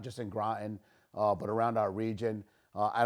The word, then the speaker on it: Groton: that's where I got mine it says it's pronounced Groton uh you know people say grow in in all these different butcher the name of